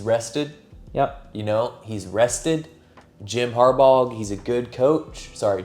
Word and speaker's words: Harbaugh: Harbaugh. It's a silent G. Harbaugh. There is a G though, so you can see where. But I see it, but it's silent.